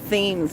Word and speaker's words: Thames: It's spelled Thames, but they say Thames for some reason.